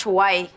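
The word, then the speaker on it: Hawaii: the chip to Haw I I it's it's pronounced Hawai I thought it was hor are you Dice needs the girls to hide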